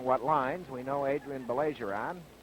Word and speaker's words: Baillargeon: lines we know Adrien Bayer on or Bon as he tells me the correct pronunciation is we know that Adrien